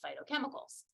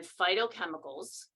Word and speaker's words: phytochemicals: these things and then phytochemicals even though it's spelled with a pH I like to say fight like f-i-g-h-t are those natural chemicals